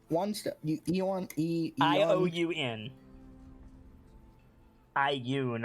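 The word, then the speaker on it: ioun: Eon. I-O-U-N. I-U-N, I think Gracie was right, is how you say it. I've just said Yuan for years.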